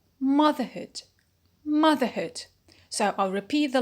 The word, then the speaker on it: motherhood: so nothing will happen we keep the stress as it was in the root which is mother so we say motherlands